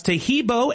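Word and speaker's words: Taheebo: Tahibo is spelled T like Tom, A-H-E-E-B like boy. Oh, that's Tahibo, and then continue with the word tea and then the word club.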